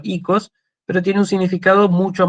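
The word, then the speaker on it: οίκος: La palabra oikos se sigue usando en griego moderno, se dice de hecho ikos, pero tiene un significado mucho más reducido que el de casa.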